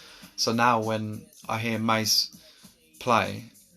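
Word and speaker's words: Ma$e: This is Mace, which is spelt MA $E.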